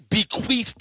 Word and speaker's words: bequeathed: An angel bequeathed it to you, and you still can't get it right. What? Bequeathed. Oh, not TH, not F.